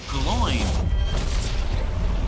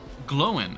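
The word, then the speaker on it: Glóin: Glowin. Oh, really? Glowin. I thought... Well, they could have mispronounced it in the movie, too. I'm pretty sure in the movie they say Gloin.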